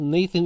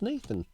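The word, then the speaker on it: Gnathan: Nelson Cruz Nathan eovaldi Nathan iovaldi is um the name of our gnome except it's spelled with a g-n-a-t-h-a-n the g is silent uh what we did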